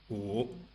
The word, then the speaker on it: 胡: Notice that the sound U is spelled with a U. The English vowel U, which is not quite the same, is spelled with the U in Honolulu.